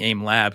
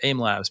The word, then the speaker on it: Aim Lab: their name aim Labs I'm so used to saying aim lab because you see it you know there was jokes about you're saying it wrong because aim Labs but now it's aim lab so anyway uh having